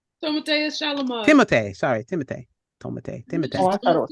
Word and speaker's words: Timothée: One movie came out now, Wonka, with Timothée Chalamet and I know that Wicked man. What did Wicked. you call him? Timothée. Timothée. Timothée. Timothée Chalamet. Timothée. Sorry, Timothée. Timothée. Oh, I thought it was Timothy.